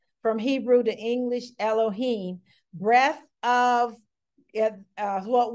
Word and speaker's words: Elohim: we have the ruach Elohim and that is pronounced Elohim that is correct spelling from Hebrew to English Elohim breath of yeah uh what we understand is